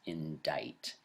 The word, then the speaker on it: indict: through the sentence that the pronunciation of i n d c is indict the C is silent and this is an